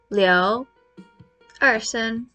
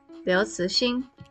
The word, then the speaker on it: Liu Cixin: It is Liu Cixin, second tone. Ci, second tone. Xin, first tone. Liu Cixin.